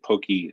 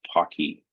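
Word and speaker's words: Poky: some people say uh some say Pokey the official way of of uh pronouncing this if you talk to Richard Purdy is Pocky uh Pocky was named after uh the chocolate covered pretzel uh that's quite popular in uh in in Asia uh it is uh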